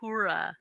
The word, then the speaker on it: Uhura: even tried uh it's not for Uhura yes Uhura well now I can say it you taught